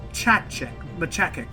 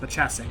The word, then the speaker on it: Machacek: So his name was inspired by Paul Machacek, I think is how it's pronounced, Machacek.